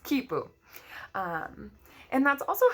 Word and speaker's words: quipu: on these strings and those strings were called quipu actually I think it's pronounced quipu and that's also how